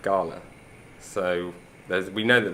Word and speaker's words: Galle: should check it out today we are heading to Gold or as the locals pronounce it gala so there's we know